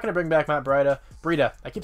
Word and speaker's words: Breida: I think it's Breida is actually how you pronounce it.